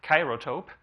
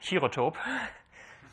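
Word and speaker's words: chirotope: It is denoted by ka sub a like kyotope or he if you like to pronounce this European way uh like herotope in in Europe.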